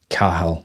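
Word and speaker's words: Cathal: It's a Cahal. You have such a um interesting name. Cahal with the T written with the C A T H A L with the T silent.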